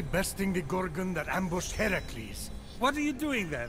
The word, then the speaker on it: Heracles: So, Phoenix, after boldly besting the Gorgon that ambushed Heracles.